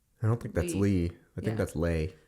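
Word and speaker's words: Leigh: I'm pretty sure that's Lay, not Lee. Lee. Lee is... Oh, L-E-I-G-H. Yeah, that's Lay. Okay, well, we pronounce it as Lee in this household.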